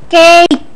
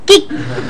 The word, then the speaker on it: cake: Ki kacang almond Pok ini dibacanya cake bukan Kik guru bahasa Inggris El